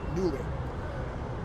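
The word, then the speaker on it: Knulli: things are all free I'm using one called newly which is I think it's supposed to be pronounced newly k n u l i newly and I pulled the image down flashed it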